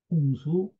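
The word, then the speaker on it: 洚: 그러니, 강수자는 홍수야 아니라. 여기서 강수라고 하는 것은 홍수이다. 홍수란, 홍수예요. 강은 음이 강이다. 또, 호공이반이다. 홍. 이 강자를 홍이라고도 읽는다는 거예요. 강자를 홍이라고 읽는.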